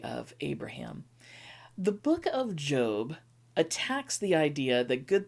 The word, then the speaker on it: Job: jump into job uh yes it's spelled j-o-b might be more easily read as job but is typically known as job and job has traditionally